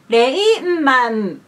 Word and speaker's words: Rayman: In English, Rayman. But in Japanese, Rayman. 5 syllables.